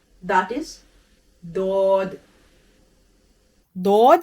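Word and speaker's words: ض: Dod is pronounced from the side of the tongue touching the roots of the top back teeth. It is noted here that this letter is neither Zwad nor Dod. Its sound is unique and it is Dod.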